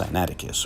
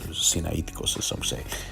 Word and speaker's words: Sinaiticus: of the septuagint rather this is from codex cyanaticus or sinaiticus as the greek pronunciation and we found the name absalom transliterated